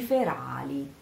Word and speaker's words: ferali: Siate per me faci ferali. Faci ferali. Again here, this R doesn't have to be ferali, but because it would sound double, but it has to be audible. So faci ferali, fera, ra, ra, ra, ra.